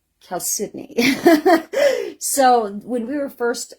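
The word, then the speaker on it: chalcedony: because Cal cidney is spelled chalon but it's pronounced Cal cidney so when we were first um doing a lot of a lot of the footwork to start the business we still called it choni in fact we' never heard it even called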